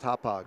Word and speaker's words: Hauppauge: Pronounced Hauppauge.